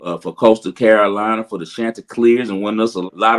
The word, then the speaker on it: Chanticleers: You've had a pretty good handle on the Chanticleers. Am I pronouncing it correctly? That's right. The Chanticleers.